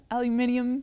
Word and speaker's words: aluminium: Aluminium, right? How the British say aluminium cans?